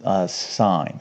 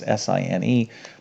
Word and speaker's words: sine: All right, so S is, this is sine. Okay, now if you were to spell it out, it's S-I-N-E, but the abbreviation is S-I-N. Okay, like sin, all right, but it's called sine.